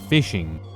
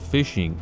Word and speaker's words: phishing: day is something called fishing fishing is a form of scamming and the term does actually come from fishing with an F but the scamming version is spelled with ph a lot of scammers